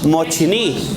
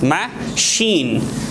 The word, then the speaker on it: machine: word it seems like mochini what is mochini yes actually this is formation of the word this is writing of the word but we should pronounce like this ma shin it's it's long machine okay so do you